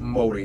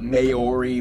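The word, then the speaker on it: Māori: korea and japan yes by the way it's pronounced moli not mayori maori they use the new zealand dollar as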